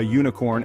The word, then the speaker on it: unicorn: in how we speak that u sound is crucial because it changes the article we use before the word it's a consonant sound not a vowel sound so remember it's a unicorn and a ukulele these